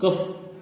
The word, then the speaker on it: cough: Light इसलिए कफ COUGH। अब COU यानी यू ये वॉवेल है और वॉवेल के बाद तुरंत आया है GH, इसलिए इसकी ध्वनि F हो गई है।